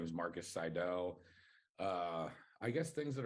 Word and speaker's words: Seidel: you say it wrong yeah my last name's Seidel Seidel okay that's what I thought but I was